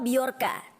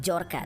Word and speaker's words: Bjorka: hacker beolka ini nama beorka tulisannya bcorka ya seperti tulisan nama anaknya Agus Ringgo yang dimana Kalau dibacanya Bukan jorka tapi dia ini adalah seorang